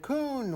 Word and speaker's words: Kuhn: How do you say it? Kuhn.